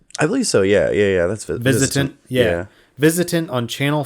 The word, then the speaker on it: VISITANT: Is that how you pronounce it right? VISITANT? I believe so. Yeah. That's VISITANT.